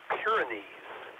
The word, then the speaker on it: Pyrenees: I believe it should be Pyrenees rather than whatever you said for the location of the observatory.